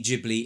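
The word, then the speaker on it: Ghibli: it love it the the the gibli jibli in Japanese it's ji um although it's from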